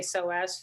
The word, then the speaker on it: psoas: of you know this so as it's spelled p-s-o-a-s so if you're looking